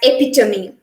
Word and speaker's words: epitome: this world uh some normally what we do is that uh we make the last e sound silence but here in this word we have to stress the last e sound we have to pronounce this word as epitome an epitome is a